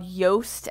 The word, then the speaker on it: Yoast: You're going to want to get a free plugin called Yoast SEO. It's spelled just like toast, only with a Y instead of a T.